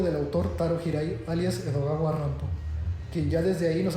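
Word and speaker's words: Edogawa Rampo: autor taro hirai alias edog ar rampo quien ya desde ahí nos hace patente su ironía ya que su seudónimo se podía leer como Edgar Alan pero pronunciado por un japonés en este cuento una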